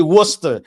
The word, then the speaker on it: Worcester: You know, it's actually Worcester. And I I don't ask me why it's pronounced like that. But yes, go ahead. Worster sauce.